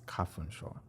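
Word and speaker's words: 花粉症: So I looked on my phone and I was just like, oh wait, it's kafunsho.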